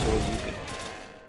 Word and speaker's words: Shoryuken: Because I know it's pronounced Shoryuken, but it looks like it's spelled Soryujin.